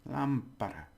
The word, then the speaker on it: lámpara: So the stress is on there, lámpara.